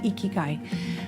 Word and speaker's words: ikigai: concept of ikigai it's a japanese word uh it's spelled i k i g a i ikikai and it means the purpose in your life